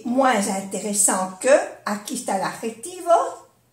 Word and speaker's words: moins intéressant: Es un adjetivo, pero sí que se pronuncia la S cuando es una vocal. moins intéressant, comme la Z, z, moins intéressant.